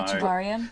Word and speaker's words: Echevarria: Renee, and I'm going to ask you to pronounce his name. So Echevarria.